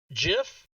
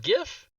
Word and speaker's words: GIF: is the part where I tell everybody it's pronounced jiff not gif because if it was gif and the reason